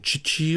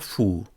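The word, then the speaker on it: 父: Here we have the character for father with the pronunciation chichi or fu.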